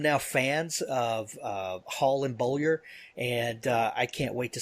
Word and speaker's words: Beaulieu: Yeah, Beaulieu. Okay. Just pronounce it how you want.